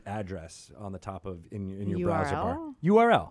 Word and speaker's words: URL: here he says an Earl he's weird I'm like that is not the printout you don't pronounce that acronym you say that all the parts of that acronym is I got I